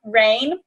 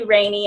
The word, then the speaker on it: Rayne: reintroduce myself you know it looks like rain right because why else would you pronounce my name any other way but it's actually rainy and my last name